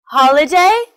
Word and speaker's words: holiday: that's all for today we learned the stress position of forwards motorbike underground holiday family they're all three syllable word with the stress on the first syllable I hope you learned